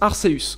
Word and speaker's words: Arceus: Ça se prononce Arceus.